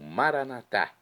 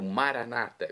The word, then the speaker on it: Maranata: Agora do aramaico, eu clamo maranatá, como dizemos nós católicos, ou maranata, como dizem nossos irmãos separados, os evangélicos ou protestantes.